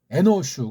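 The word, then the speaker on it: אנוש: 아담 에노슈 그래서 이건 슈라고 해요. 슈 의자로 끝나는 것이는요 발음 자체가 슈예요. 슈 꼬마 사내 아이들 오줌 뉘고 별 때 쉬해라 빨 쉬거예요.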